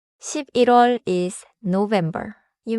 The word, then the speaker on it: 십일월: 10월 not 10월 11월 is November. You may see 11 plus wall but the sound connects naturally 11월 is 6월 is